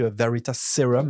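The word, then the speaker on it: Veritaserum: été vérifié en anglais, ça se dit aussi Veritas sérum, il y a pas de Z.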